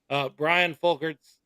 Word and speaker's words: Brian Folkerts: Brian Folkerts.